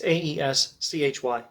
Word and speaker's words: Aeschylus: Now, I'm not entirely sure how I should be pronouncing this name Aeschylus. That's how I've been accustomed to saying it. If I were reading it phonetically, I would probably say Aeschylus, Aeschylus, something like that. It's Aeschylus.